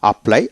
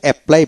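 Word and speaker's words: apply: প্লাই আপ্লাই আমরা আসলে এপ্লাই বলি কিন্তু না আ্লাই আপ্লাই আলা্লাই আবেদন করা আপ্লাইড আপ্লাইড এভাবে উচ্চারিত হবে একটা যেখানে ডাবল লেটার পাবেন সেখানে একটা লেটার উচ্চারিত হবে তারপর সিনক সিনক অস্ত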